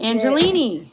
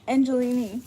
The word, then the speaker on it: Angelini: I don't know how I pronounce this lady's name. I wish I did. Angelini. Angelini.